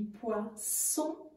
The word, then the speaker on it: poisson: y achète du poisson attention la prononciation du poisson parce que le mot poison ça remet pas manger ni boire ensuite on paye tout